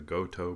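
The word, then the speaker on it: Gotoh: The tuning machines that I bought for this guitar are from Steuart McDonald and they're the Goto brand. That's spelled G O T O H.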